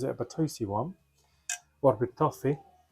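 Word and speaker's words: Bitossi: Or Batosi? We're never quite sure how to say that. I think the Americans say Batosi, and we say Batasi.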